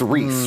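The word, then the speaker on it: Rhys: it yeah it's it's RH Ys but it's pronounced Reese Reese so Reese Reese so uh how you dealt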